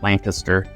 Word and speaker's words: Lancaster: Communities, and that one's located in Lancaster, or as the locals say, Lancaster, South Carolina.